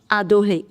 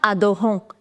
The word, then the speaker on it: adorent: This is the verb adorer. It's an ER verb. In the verbs with il pluriel, whenever you have ENT in the end, you don't pronounce ENT. It's not adorant, it's adore.